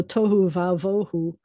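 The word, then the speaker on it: תהו ובהו: make it flow better, instead of having a we're going to have it say ah. So tohu vavohu, which we don't know how to say this one yet, but commonly paired words often will have a larger vowel sound instead of a smaller vowel sound, just so that it flows better.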